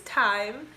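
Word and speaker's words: thyme: though yeah this is time sorry i forgot but this is time it's not spelled like time it's spelled and t-h-y-m-e this is dry time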